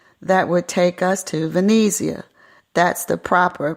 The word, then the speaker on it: Venezia: the boating dock that would take us to Venezia that's the proper pronunciation for Venice we wanted to explore the